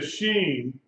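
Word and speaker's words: שׁין: left at the top if the dot is on the right you pronounce it s h sound she sh okay if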